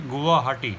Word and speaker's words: Guwahati: Its pronunciation, if you see, Guwahati. Guwa is your betel nut, which is eaten with pan or betel, and Hati is the market.